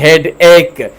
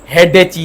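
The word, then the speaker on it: headache: हिते उच्चार आहे हेड एक। हेडेची न आहे। इहो प्रोनाउंसिएशन जो बि ख़्यालु रखो।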